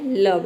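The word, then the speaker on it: love: अपवाद ओ क्या है लव यहां पे देखिए ओ के बाद भी ई आया है लेकिन हम यहां पे ओ को अ प्रोनाउंस करते हैं तभी इसका प्रोनंसिएशन होता है लव लव का मतलब होता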